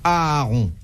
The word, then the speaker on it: Aaron: Pour quelle raison Aaron, frère aîné de Moïse. Parlez Ouais. à sa place. Aaron, tout simplement. Aaron, frère aîné de Moïse. Oui. Un peu pas son Aaron?